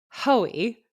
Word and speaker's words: Hoey: Men's side I think is so interesting cuz you have Josh Hoey. I swear that's how you say it.